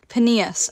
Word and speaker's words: Peneus: Pinos. What? Pinos. Please don't tell me it's pronounced like, it literally is pronounced like penis.